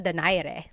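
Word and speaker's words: Donaire: So, our first poll here is going to be Mani Pacquiao versus Nonito Daire or is in in the Tagalog uh pronunciation. Nonito Dere.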